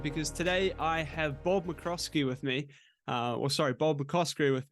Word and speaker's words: McCoskrie: And McCoskrie is how you say it, but nobody ever gets it right, so it always makes me chuckle.